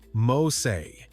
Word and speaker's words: Mose: Today we call it Fort Mosse, pronounced Mosay, and it changed American history forever.